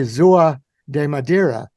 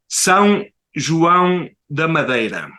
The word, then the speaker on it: São João da Madeira: And if I can pronounce the name of the city right, say São da Madeira. How am I very close? Almost. It says São João da Madeira. Very good.